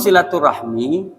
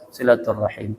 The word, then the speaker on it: silaturahim: Ukhuwah silaturahim Iya silaturahim dengan silaturahmi kalau silaturahmi itu bahasa Indonesianya bu ya kalau bahasa Arabnya silatur silaturahim jadi istilah itu dua-duanya bahasa Arab sebenarnya cuman cara pengucapannya ya silaturahim itu dua kosakata daripada